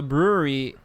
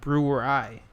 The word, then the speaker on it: Brouwerij: So, the brewery that the beer comes from is actually pronounced Brewery. Brewery.